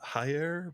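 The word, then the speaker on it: Jair: Brazilian J in uh the Brazilian Portuguese J sounds like the s in pleasure so it'd be Giants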